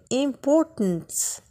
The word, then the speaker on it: important: لاحظوا ان التي اللي في important بحال ما كنطقهاش. important كنطقها لداخل في اللها ديالي. important.